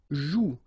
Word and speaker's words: joue: Elle joue. So it's, in that case, it's quite interesting because if you look carefully, you've got the combination of the vowel O and U, and together you know that they produce the sound OU, okay? And it's exactly the same rule, so you've got this after, but then clearly you don't pronounce it, okay?